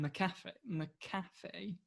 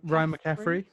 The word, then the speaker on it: McCaffrey: the big controversy coming out of this was a guy called Ryan McAfee. I can't say his name. Ryan McCaffrey. Yeah, Ryan McAfee.